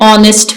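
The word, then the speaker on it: honest: नेक्स्ट Ahmad is एन ऑनेस्ट मैन ऑनेस्ट का H silent है ऑनेस्ट नेक्स्ट डोंट talk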